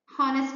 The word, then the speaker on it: honest: is silent right honor honest man h is silent right so you should add